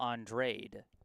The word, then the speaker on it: Andrade: Okay, KP87 helping me out with the pronunciation. It is Cole Andrade.